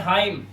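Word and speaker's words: hymn: यहां पे भी एन साइलेंट। इसे सिर्फ पढ़ते हैं हाईम।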